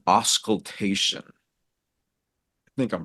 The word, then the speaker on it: auscultation: But there's a word called auscultation. I think I'm pronouncing it right. Yeah, auscultation.